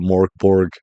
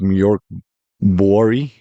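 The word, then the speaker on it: Mörk Borg: name so I'm just going to call it Mor Borg I believe it's moror bori um is how it's really said um but MK Bor is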